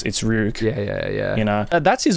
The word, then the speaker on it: Ryuk: If you watch Death Note, you'll know it's not Ryuk. It's Ryuk.